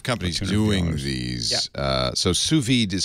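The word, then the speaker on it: sous vide: a number of companies doing these uh so suid is spelled s o u s v i D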